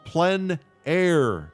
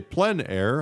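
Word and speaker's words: plein air: world of outdoor painting called plen air painting for those of you who don't know plen a is a French term that essentially means open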